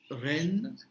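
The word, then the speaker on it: reine: Ren, which is queen. Again, EI is A. So ren, and NE is considered as one more pattern.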